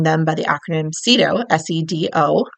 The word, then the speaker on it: SEDO: by the acronym SEDO, S-E-D-O, and pronounced SEDO, at least in the US DOT.